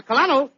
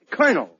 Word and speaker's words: colonel: very brave people my great grandfather was a kalano in the Army yeah that's a pretty high rock it is no no you see that word is pronounced Colonel I know yes Colonel uh where did he